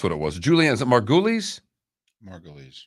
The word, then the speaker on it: Margulies: and i don't know if she's one or another one i don't know well that's what it was julianne margulies margolies margulies is how you say her name uh er